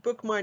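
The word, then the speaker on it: BookMyne: And BookMine is spelled B-O-O-K-M-Y, like my, N-E.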